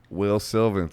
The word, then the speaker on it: Wil Sylvince: we got Wil Sylvince. Is that Episode Yes. did I say it right? 98. Episode 98, Wil Sylvince. Wil Sylvince.